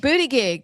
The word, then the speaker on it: Buttigieg: You didn't say his name right. Remember what our Buttigieg? booty gig? That's what our friend SB calls him. Buttigieg. Booty gig. So call it correctly. Pete Booty gig.